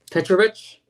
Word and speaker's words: Petrovic: Pronounce his name correctly. It's Petrovic. Petrovic.